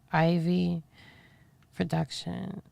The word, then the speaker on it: Ivy Production: Okay, so you just hit up her page called Ivy Production. Okay, and I'll tell you how to spell it because it sounds like I'm saying ivory. But it's not. It's Ivy Production.